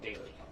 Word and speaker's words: Daly: It looks like deli. Like, Zane, take me to the deli, but it's pronounced Daly.